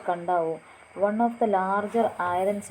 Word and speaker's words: Kadavu: Kadavu on the sacred turtles of Kadavu on the island of Kadavu, pronounced Kandavu, one of the larger